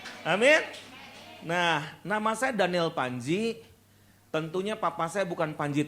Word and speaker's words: Pandji: Nah, nama saya Daniel Panji. Tentunya papa saya bukan Panji Tengkorak, bukan juga Panji Semirang, Panji Gumilang teman saya, dan papa saya Panji Selamet. Ya udah selamat. Nah, jadi Panjinya PANDJI ya, ejaan lama.